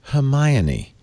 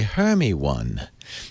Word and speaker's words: Hermione: talk beforehand, she said, "It is pronounced Hermione." "Many people come to me and say 'Hermy-one'. That is Hermy-one? That is That is not how it's pronounced. It's Hermione."